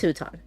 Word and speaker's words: Hutan: Uh, Ben says, "Looked up pronunciation. It is Huton." So, it is Huton.